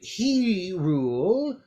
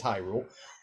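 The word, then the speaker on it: Hyrule: Here in He Rule, you notice, of course, he's pronouncing these wrong, in case any of you are wondering. Yeah, high. Because it's High Rule.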